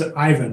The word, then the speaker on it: Ivan: No, it's Ivan, not Bernie.